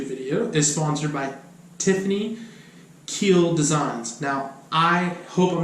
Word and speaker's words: Kuehl: We actually practiced it the other day, and he said it's like keel, like a boat, not like I'm going to kill you. It's keel, and that's spelled Kuehl.